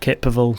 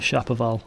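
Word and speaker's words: Ceapabhal: summit of K paval it's not chaal as I've been seeing all the way through I did check a online GC dictionary web page and then pronounce it as kaville so hopefully that's correct and I do apologize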